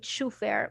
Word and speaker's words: chauffeur: Chauffeur, this chauffeur. is another word that it has unusual spelling because we will not say chauffeur, we'll say chauffeur, chauffeur.